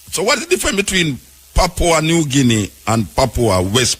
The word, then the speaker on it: Papua: How you pronounce it? Papa. Papo. Papua. Yeah.